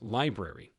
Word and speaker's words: LBRY: LBRI, pronounced library, was the second project to be axed.